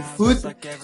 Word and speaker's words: food: In this case, double O would sound like ooh, so we can say food instead of bud, for example.